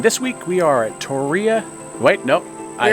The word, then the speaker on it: Torreya: Think about Tori spelling. Yeah, we learned that if you say Torreya, like I want to say, you will get slapped by people who know how to pronounce it correctly. They will slap that right out your mouth.